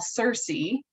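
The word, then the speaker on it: SCERSE: So the center where I work, which we fondly call CERSE, S-C-E-R-S-E, but that's how we pronounce our acronym, our mission is really to improve equity and broaden representation in STEM fields.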